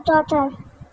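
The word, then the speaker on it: daughter: उसके बाद आता है डॉटर डॉटर जी साइलेंट बेटी फादर इन लॉ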